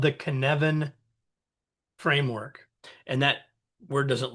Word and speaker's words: Cynefin: And if you're trying to remember how to say it, just say it kind of rhymes with Kevin. It's the Cynefin framework.